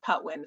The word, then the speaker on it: Patwin: We actually have a Patwin, and it's actually spelled Patwin, but pronounced Patwin.